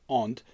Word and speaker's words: and: it could replace both the word and pronounced Aunt as well as being